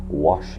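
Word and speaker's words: Wasch: There is a solution on the market called Wash Lotion. It's spelled W-A-S-C-H, Wash Lotion.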